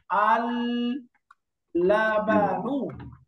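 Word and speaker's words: اللبن: আমি লামটা উচ্চারণ করলাম অথবা লামটা উচ্চারণ করলাম না। না করে আমি প্রথম লামের মধ্যে তাসদিদ দিয়ে এরকম বললাম। আললাবানু। তাহলে দুইটার উচ্চারণের মধ্যে কোন তফাত আছে? না। দেখেন আমি তাসদিদ দিলাম অথবা এটাকে সুকুন করে পড়লাম। দুইটার মধ্যে কোন তফাত আছে উচ্চারণে? উচ্চারণ একই হচ্ছে নাযে উচ্চারণে এক তাসদিয়ে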